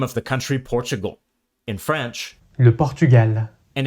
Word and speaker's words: Portugal: Portugal. Notice that in Brazilian Portuguese, L is pronounced W at the end of a syllable.